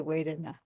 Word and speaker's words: vedanā: The V is often pronounced as a wa, but it's kind of in between of how do you say Vedana? Vedana. Vedana. So it's kind of Va. It's a kind of a Elmer Fudd VW. Vedana. it's a cross between a V and a W, and it depends on